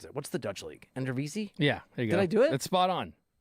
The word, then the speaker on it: Eredivisie: And there's like Ricardo Pepi just finished, I think, 2nd or 3rd in goals in I can't pronounce it. What's the Dutch league? Eredivisie?